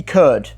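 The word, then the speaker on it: Kurd: So the most common scale is a D curd, and it's spelled K-U-R-D.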